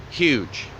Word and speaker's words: Hugh: Taylor birch State Park huge that's how you pronounce H ugh huge that's the Atlantic and